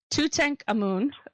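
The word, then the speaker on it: Tutankhamun: comes through it so to tank a moon which is actually the proper way to pronounce it who was also called to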